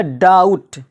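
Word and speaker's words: doubt: से पहले आया है इसी तरह डाउट डाउट जिसका माना होता है शको शुबा यानी यहां पर भी बी साइलेंट हो गया है क्यों क्योंकि यहां पर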